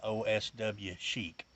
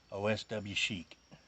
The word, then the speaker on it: Oswchic: I googled this and it said you pronounce that Oswchic. Oswchic.